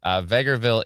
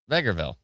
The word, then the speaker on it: Vegreville: So, Vegreville is correct. It's calmed down in north north of Edmonton. Thank you so much. Appreciate the report. Said it right the first time. That's what I thought. Vegreville, right?